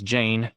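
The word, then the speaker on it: Jeyne: bride along it Jane her name is Jane it rhymes with pain he must not think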